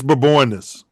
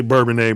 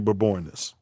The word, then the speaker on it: Bourbonnais: It's Bourbonnais. I'm just telling y'all the correct pronunciation, just because y'all cooning y'all whole life. Some people say Bourbonnais, but it's really Bourbonnais.